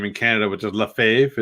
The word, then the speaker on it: Lefebvre: It's Lefebvre, I believe it is. But in the States, it's Lefebvre because there was a manager named Tommy Lefebvre, but it's spelled Lefebvre. So okay. I remember I used to always watch the TV and be like, "Why are they calling him Lefebvre?" It's Lefebvre. Instead of Lefebvre.